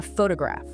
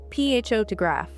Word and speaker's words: photograph: In English, we put the strong beat, the power, on the very first part of the word. Listen closely. P-H-O-tograph. P-H-O-tograph. It is like clapping your hands on the first part. Claptograph. We do not say photograph. No. We do not say photograph. The rhythm is strong on the first beat.